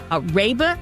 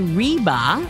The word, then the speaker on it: Reba: is that she said don't call me Reba like Reba McIntyre because that's ruined the pronunciation of my name so I have always remembered that so um again Reba welcome we always like